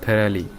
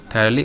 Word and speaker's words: thoroughly: थी, एक एक शब्द थरली, उसको शायद आप थॉरोलो ना पढ़ते हो, बिकॉज स्पेलिंग ऐसे होता है, THOROUGHLY, थरली उसका साउंड है थरली, ठीक है।